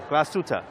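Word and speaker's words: Glashütte: Europe and this one's actually from Germany uh class tuta right did I pronounce it right yes right yes this is uh George here the national Deputy retail manager of glastuta original and I I know that you have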